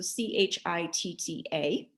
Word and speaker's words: chitta: so sutra 1.2 yogis chitta vritti narodaha yogesh yoga right yoga is the first word and then chitta see it's phonetically a ch sound so c-h-i-t-t-a chitta is mind our mind